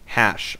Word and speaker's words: HasHe: This is the round of 64, a best of 3 series between the DalaiLamer and his opponent, HasHe. I am told he's pronounced Hash.